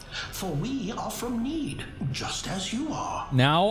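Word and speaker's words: Nede: for we are from need just as you are now I finally know how to pronounce the name of that planet it's need it's not Ned which some people tried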